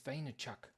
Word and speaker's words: Vaynerchuk: fantastic Easter uh Avi e maybe they say pronounce it v e it's vaynerchuk same let's get it let's let's let's let's